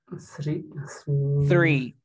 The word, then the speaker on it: three: El número 3 tiene una TH. Esta TH tiene el símbolo fonético de la teta. ¿Cómo se pronunciará el 3? Three.